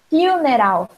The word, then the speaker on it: funeral: Funeral. Funeral. Vai falar funeral. Que o em inglês é you, funeral.